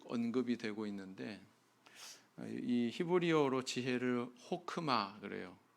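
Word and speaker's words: חכמה: 되고 있는데이 히브리어로 지혜를 호크마 그래요 호크마 흐하고 크의 중간 발음을 하시면 되는데 이렇게 이제 발음을 하는데이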